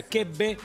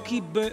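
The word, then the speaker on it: kibbeh: Por qué tres veces depende donde te pares en el planeta de medio oriente en la parte del hemisferio de medio oriente digamos es como se pronuncia quebe o kipe o kipe o kepe entendés o sea te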